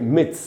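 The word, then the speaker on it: myths: जैसे मिथ जो होता है कोई भी जो टूट जाता है कई बार, तो मिथ में अगर एस लगाया तो उसको पढ़ेंगे मिथ्स।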